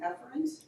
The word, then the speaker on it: efferent: They're actually pronounced afferent and efferent, but it's really hard to hear the distinction when you're lecturing and saying afferent and efferent.